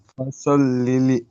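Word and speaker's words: فصلّ: জি, ফসল লিলি ফাসাল্লি, ফাসাল্লি, কি বলবেন? জি, ফসল লি একটা লাম হলো, আরো একটা লাম হলো না, দুটো লাম ফাজর আছে।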